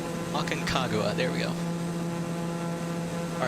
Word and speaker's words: Aconcagua: uh i guess uh it's pronounced like uh like agua right like water so akan i can't